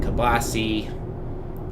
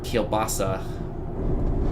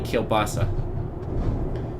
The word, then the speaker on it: kielbasa: So there's always been kielbasi, or kielbasa. Kielbasi is kind of the Pittsburgh pronunciation of that. We don't say that word properly. It's properly kielbasa.